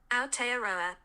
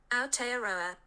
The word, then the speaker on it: Aotearoa: How do I pronounce it? Aotearoa. Sorry? Aotearoa. Aotearoa.